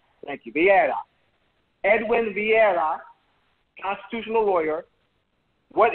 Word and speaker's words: Vieira: Is that pronounced correctly? Vieira. Thank you, Vieira.